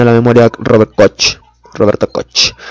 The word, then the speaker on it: Koch: tratados que hizo robert koch que robert coco no porque es un término alemán no se ha probado no se pronuncia coche bueno sífilis ya hemos